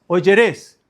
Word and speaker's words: oyeréis: Oyeréis, oyeréis, oyeréis.